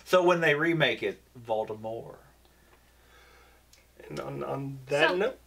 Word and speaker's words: Voldemort: And then she goes, well, technically, I always meant for the T to be silent. And I was like, oh, come on. So when they remake it, Voldemort.